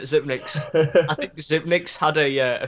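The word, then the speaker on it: Xyp9x: How do you say that name? Zipnix? Zipnix. That's it. Zipnix.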